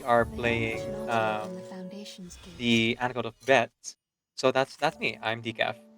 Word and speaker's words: Bette: that the character's name is pronounced Bette, it turns out.